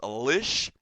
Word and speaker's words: lish: But the word is pronounced lish. I guess it's spelled L-I-S-H.